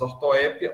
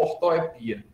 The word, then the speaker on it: ortoépia: Mas até o nome ortoépia é estranho, porque ele pode ser pronunciado de duas formas, ortoépia ou ortoepia. Só uma curiosidade, essa duplicidade de sílaba tônica só acontece em palavras de origem grega, que tem uma acentuação em grego e uma acentuação em latim.